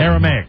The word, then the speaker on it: Aramaic: told me you saw the ad last night Aramaic and it's like it's Aramaic everybody says that but no it's Aramaic aric m i at the end aramic is